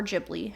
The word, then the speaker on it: Ghibli: But if you've listened to any of our episodes, we did eventually cover all of Studio Ghibli, or Ghibli, however you'd like to pronounce it.